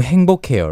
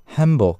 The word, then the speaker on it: 행복: But to my ears, it sounded more like the Japanese pronunciation, 한복, you know? 한복. Not 한복, but like instead of 행복, the strong NG sound, it sounded like N.